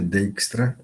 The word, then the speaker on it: Dijkstra: Se escreve Dijkstra, a pronúncia é Dijkstra, é como se fosse o I e o J é um som de EI.